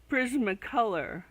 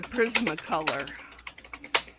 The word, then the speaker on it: Prismacolor: the calculators go oh prison mccullar oh I said it wrong I'm sorry Frank this is a critter that Frank loves so I always have an eye out for it it's a prismacolor best stuff you can